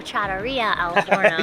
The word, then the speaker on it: Trattoria al Forno: Oh, Trattoria al Forno.